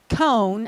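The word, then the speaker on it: koan: meaning of this saying or cone as it's called if you've never heard that it's spelled k-o-a-n by a man named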